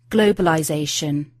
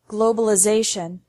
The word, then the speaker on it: globalization: noun form globalization and American English changes the sound of the letter i globalization finally the T sound